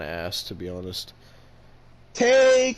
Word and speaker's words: Tay: Tay Conti. You mean Ty? I Excalibur said that's how you pronounce it.